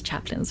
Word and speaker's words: chaplains: are the chap chaplins I'm pretty sure that's chaplains right chaplains it has an A in it but it's not fully pronounced she says a role